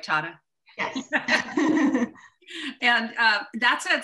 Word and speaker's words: Tata: accelerated uh leadership program at tata did i pronounce that right tata yes and uh that's a selective program because